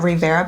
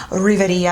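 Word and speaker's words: Riviera: go into the anastacio Rivera palette I was pronouncing this wrong when I first got this I was calling it the rivetti palette it's not the real video Bella it's the Rivera palette but I love honest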